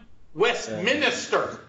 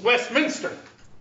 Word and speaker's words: Westminster: way I'm not one Westminister lapa Minister of yeah it's not the minister it's not West Minister doesn't have four syllables has three souls miss Westminster it's no man but